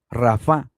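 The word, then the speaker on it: רפה: Ya no es alf, pero se pronuncia igual, rafá.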